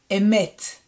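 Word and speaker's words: אמת: Emet. E, Met means truth. And the last one, we have the silent letter Ayin and A vowel and Mem Sofit.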